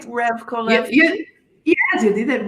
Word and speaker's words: Revkolevsky: Revkolevsky?